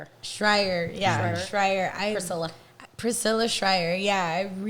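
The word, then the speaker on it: Shirer: I can't pronounce her name, but Pryor? Schreier.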